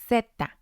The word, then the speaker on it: zeta: In Spanish, it's pronounced zeta. Zeta.